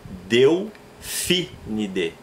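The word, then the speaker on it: Delphinidae: Delfinide. Por que eu não falo Delfinide e falo Delfinide? Latim não tem acento, mas eu devo pronunciar as famílias dos animais como se a palavra fosse uma proparoxítona.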